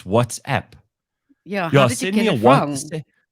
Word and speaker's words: WhatsApp: What happens to you when somebody says what's up instead of WhatsApp?